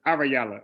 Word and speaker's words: Ahrayahla: wow because I'm saying it wrong so it's arayala okay all reality yeah so um I feel